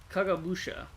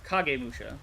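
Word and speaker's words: Kagemusha: Kagabusha, the silent shadow. Uh, or Kagay Musha probably is the more accurate pronunciation.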